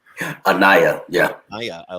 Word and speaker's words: Anaya: Anaya? Anaya, yeah.